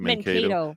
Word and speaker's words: Mankato: Mankato. Mankato, Minnesota, where a 37-year-old guy named Brandon Seahack got pulled over last Wednesday.